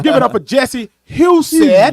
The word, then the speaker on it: Jesse Husett: So give it up for Jesse Husett. Husett. Let me tell you how to Husett. pronounce it.